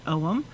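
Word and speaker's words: Ogham: om means is or it's spelled o g h a m and it's pronounced om and it's the it's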